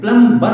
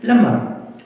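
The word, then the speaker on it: plumber: हम प्लम प्लमबर प्लमबर हम बोल सकते हैं प्लमबर अगर आप बोले कि प्रोनंसिएशन तो फिर इसकी गलत होगी प्लमर बहुत ज्यादा मतलब क्लाइम कम बी सैलेंट है इसमें तो इन्हें क्या कहते हैं?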